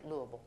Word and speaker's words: Louisville: teaching at Louisville Seminary that's how you pronounce it lble um was a course